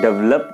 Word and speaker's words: develop: देखिए गाइज इसको दोनों तरह से बोला जाता है, इसको डेवलप भी बोला जाता है, इसको ड्वेल्प भी बोला जाता है. तो आप दोनों ही बोल सकते हैं, दोनों ही करेक्ट प्रोनाउंसिएशन है.